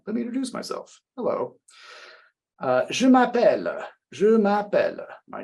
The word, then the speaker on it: Je m'appelle: And we want to think about the pronunciation of the sound represented by 2 L's here. It's L. It's not ol like we use in California for many of our L's.